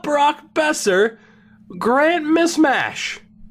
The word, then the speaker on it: Mismash: Grant Mishmash. I always said, I think it's Mishmash, but it is spelled Mismash.